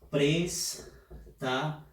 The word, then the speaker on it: préstaselos: Y para terminar, ya estamos en la última, es préstaselos. La fuerza de voz está en la sílaba pres.